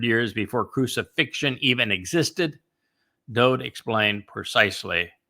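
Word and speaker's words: דוד: And I use David because his name is Dode. Every song he wrote, his mizmor, his psalms, in his own hand, his name is spelled Daleth Wah Daleth. It is a Hebrew word. It means beloved, and that is his name. And every prophet that spoke of him wrote his name as Daleth Wah Daleth,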